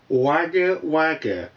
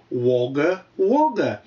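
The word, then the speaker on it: Wagga Wagga: for you de r i believe you are mispronouncing the name of your host tv station wager wager as an austral you should know that the pronunciation is woger woger this one comes from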